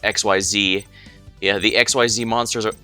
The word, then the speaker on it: Xyz: unless you mean referencing to XYZ Dragon Cannon, but that one's actually pronounced XYZ.